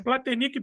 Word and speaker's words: Platenik: Hoje eu estou aqui com o meu amigo Platenic, como é que seria a pronúncia correta? né? Platenic mesmo.